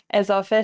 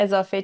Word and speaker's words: اضافه: ترجمه بشه در انگلیسی چطوری تلفظ میشه ا مثل حرف ای در کلمه رد ا و تاکید م نمیشه خب اضافه چندین کاربرد